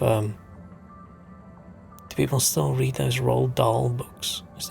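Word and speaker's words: Roald Dahl: remind me of um people still read those R doll books is how you pronounce his name used to read a lot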